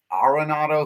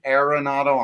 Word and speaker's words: Arenado: three or four that nolan came out and said it is technically pronounced arenado if you say aronato i'm not gonna correct you but now that